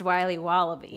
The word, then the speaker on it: Wiley Wallaby: Wiley's wallabies wallaby Wally's will be wobba beats pronounced Wiley wallaby well it's very good called Wiley wallaby and